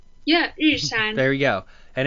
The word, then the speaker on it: Yushan: I might be pronouncing it wrong. It's Yushuan? Yeah, Yushan.